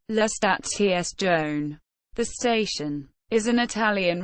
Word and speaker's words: La Stazione: Italian pronunciation: La Stazione.